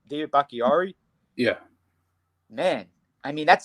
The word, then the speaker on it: Bakhtiari: David Bakhtiari?